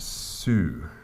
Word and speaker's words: su: It's s u pronounced sue. And we sing it like that. S. So you start with the s to make that real s sound and then you move